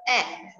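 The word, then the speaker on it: ache: Pronunciation is here, egg.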